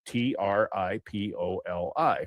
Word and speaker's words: Tripoli: It's spelled T R I P O L I, which in Libya you say Tripoli, the Marine Corps anthem to the shores of Tripoli, but in Eastern Iowa that town is called Trappola.